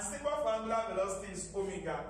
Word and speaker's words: omega: And symbol for angular velocity is omega. It looks like W. But then it only looks like W, but it is pronounced omega, the last Greek alphabet.